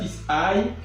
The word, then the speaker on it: isi: So 5 is called and pronounced like this. Ise. E. That is I-S-E.